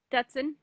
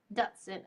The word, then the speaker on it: Dutson: here with me how do you say your last name Dutson Dutson okay cool I wanted to say ducked Dustin butt alright so was